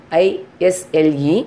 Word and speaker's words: isle: Island, isle, I-S-L-E, but we are reading as a isle.